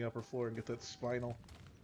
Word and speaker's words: spinel: I'll check out the lower floor, then the upper floor, and get that spinal. It's on the roof or spinel, I think, is how it's pronounced.